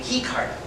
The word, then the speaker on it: Ricardo: they pronounce his name he card they do that in Brazil they pronounce their eyes like agents they even say hiyo